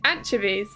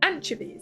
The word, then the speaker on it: anchovies: Yeah, it's anchovies. It's not anchovi. That's an American pronunciation. It's anchovies. That's how we say it.